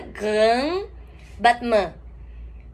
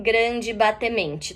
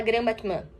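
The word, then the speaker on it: grand battement: A pronúncia em francês dessa palavra seria grand, esse R de novo na garganta, Grand Batman. Batman. Não falem grande batemente também, tá? Mas aqui a gente fala Grand Batman, que é essa grande batida.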